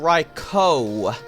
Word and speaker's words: Raikou: that people, you know, other people do say Raikou, and I think that's because of Raichu. So, yeah, it's actually Raikou.